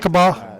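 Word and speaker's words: Lookeba: Do you guys notice how I've said that name of that city about 500 different ways? Hey, you're saying it right. Lokiba.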